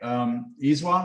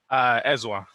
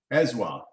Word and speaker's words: Ezwa: Okay, Iswa, am I saying that right? Ezwa. Ezwa, okay, Yes. just like it's spelled, okay.